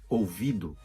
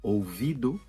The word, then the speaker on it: ouvido: uma burra exemplo é ouvido a palavra ouvido acaba com o mas nós pronunciamento essa ou como uma ouvido e eu canto canto